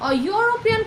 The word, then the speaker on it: European: It is similar with a European country, একইভাবে আমরা ইউরোপিয়ান country সবসময় আমরা বলি, অ্যান্ড ইউরোপিয়ান কান্ট্রি আমরা কখনোই বলি না, কারণ এটা Y দিয়ে উচ্চারণ হয়।